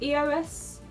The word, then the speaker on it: EOS: Is it EOS? Oh yeah, it is EOS.